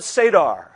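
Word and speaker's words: Seder: Passover the mill of sadar it's spelled sed er it sounds like sa d ER there's four cups at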